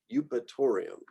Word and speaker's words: Eupatorium: And so we just combine this EU and it often just gets said as U. So euonymus, eupatorium. F, also pretty straightforward, Phagopyrum, Fallopia, Festuca, Filipendula, Fimbristylis, Feniculum.